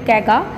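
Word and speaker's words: Kaiga: And then the fourth one is here कैगा, okay कैगा, इट इज़ the pronunciation like कैगा।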